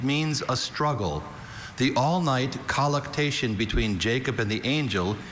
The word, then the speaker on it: colluctation: The all-night colluctation between Jacob and the angel is one of Beth's favorite Bible stories. Colluctation. Are there any alternate pronunciations? I have only colluctation.